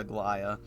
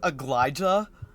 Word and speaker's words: Aglaya: The thing is, this is still how you would pronounce it, right? They say like the way it's written, you would still pronounce it the same. However, they had someone who did not know that that can be pronounced that way read it. No. And so it was like Aglija. Aglija. Because technically speaking, the J would still be a ya.